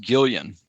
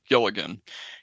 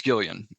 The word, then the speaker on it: Gilligan: Just to let you guys know, I think his last name is pronounced Gillian, as a matter of fact, but it's spelled Gilligan. Your correct answer, both teams got it right. Vince Gillian.